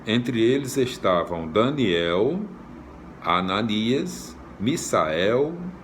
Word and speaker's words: Misael: É Misael, M-I-S-A-E-L, tá escrito, né? Deve ser Misael, né? Mas a gente sempre, a gente pronuncia Misael, né? Mas eu acredito que seja direitinho aqui, tá escrito M-I-S-A-E-L, então é Misael. Se fosse Misael seria M-I-Z-A, né?